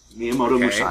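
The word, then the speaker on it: Miyamoto Musashi: We've established Well, let's let's run through the main characters and give you a real quick pronunciation guide. So we have Amiiamoto Mousashi. Yeah. Miamoto Mousashi.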